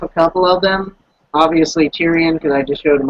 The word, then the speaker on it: Tyrion: The Tyrus, or however you pronounce that? Tyrion.